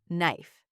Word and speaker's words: knife: The letter K was there. I could see it. It was the first letter, but nobody said it.